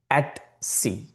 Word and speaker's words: etc: At c etc or at c the professionals would always pronounce as at c.